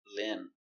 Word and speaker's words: limb: Remember, no b, limb.